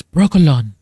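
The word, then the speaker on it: Brokilon: Sword of Destiny is when the Siri and him meet finally brokalon forest in the it's brokalon. The way he pronounces it in the audio book is so nice.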